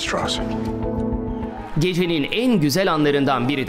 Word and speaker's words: Strauss: Mr. Strauss. It's pronounced Strauss.